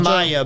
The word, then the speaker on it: Maja: Maya, but it's spelled M-A-J-A.